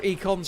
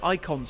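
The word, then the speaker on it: Eikon: But I hear some people, I think they actually call them icons in game, but it's spelled E-I-K rather than I-C-O-N.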